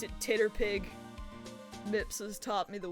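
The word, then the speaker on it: TTRPG: You pronounce it Titterpig.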